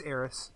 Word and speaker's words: Aeris: Age of is it Arius, you think? It's Eris.